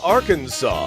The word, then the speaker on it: Arkansas: Why, that would be Little Rock, Arkansas. Oh, okay. The S at the end is silent. I learned that recently.